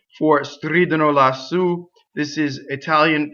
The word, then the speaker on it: stridono: So it's always on the antepenultimate, or it's on a strange stress, right? So stridono.